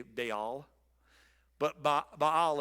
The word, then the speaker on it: Baal: say Beal but ba Bal is the proper pronunciation it's actually like two syllables it or not it's ba all and I can never